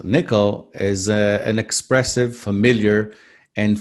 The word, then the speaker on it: N1QL: what is nickel or n1ql n1ql which we like to pronounce as nickel is an expressive familiar